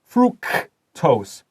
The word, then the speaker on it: fructose: Fructose. 这个 C 发 K.